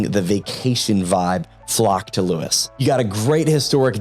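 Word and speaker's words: Lewes: far L which is what out ofers call Lewis it's spelled how it sounds Lewis and it is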